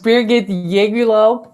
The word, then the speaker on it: Birgit Yegülalp: it just depends where you come from i pronounce it as birgit yegulo but i have to admit it's a very